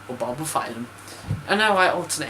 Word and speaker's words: Bulbophyllum: Bulbophyllum or bulbophyllum?